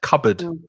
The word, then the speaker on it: cupboard: the same word uh christine says cupboard has two silent consonants you're right cupboard and again that o a in the second syllable is the uh the schwa sound cupboard cupboard kitchen coverage